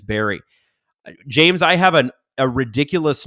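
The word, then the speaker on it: Wilkes-Barre: a million times and for years I've been pronouncing it at wi as wilk's bar and I only learned last year that it's Barry James have an a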